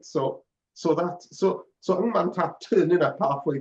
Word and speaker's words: Ng: How do you pronounce NG as a last name? I say Ng, but I think some people go Eng.